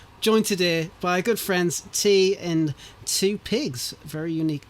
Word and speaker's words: Tea: as long as you don't say my name's Tia, we're good.